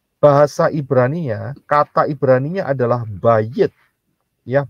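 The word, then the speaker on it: בית: Nah, tenda itu atau rumah yang terbuka seperti itu bahasa Ibraninya, kata Ibraninya adalah bayit, ya, bayit.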